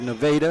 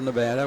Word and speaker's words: Nevada: And we have Nevada instead of Nevada.